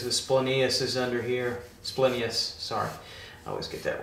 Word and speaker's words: splenius: get wrinkly cuz the splenius is under here splenius sorry I always get that wrong splenius let the greatest latin pronounce her stay there there we go alright